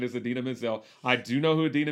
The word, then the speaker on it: Idina Menzel: i i i did know it idina or adele dazeem or whatever idina menzel was in it the travolta pronunciation is adele the team or something like that but the correct pronunciation is adina mizzell i do know who adina menzel is uh